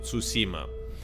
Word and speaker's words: Tsushima: Tsushima, like, like that you need to pronounce it.